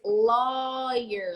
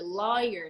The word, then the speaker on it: lawyer: tried to do here so the word is lawyer lawyer not lawyer or loud he works with the